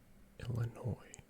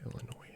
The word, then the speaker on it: Illinois: Illinois produces up to 5 times more pumpkins than any other state. Interesting. And I think Illinois actually does have a lot of farmland, so that might not be that crazy.